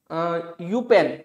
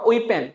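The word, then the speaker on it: Eupen: Next देखिए student, ये जो एरिया आप देख रहे हैं, ये वाला एरिया, ठीक है, इसको हम कहते हैं यूपेन, यूपेन और ओइपेन, दोनों इसकी प्रोनाउंसिएशन है।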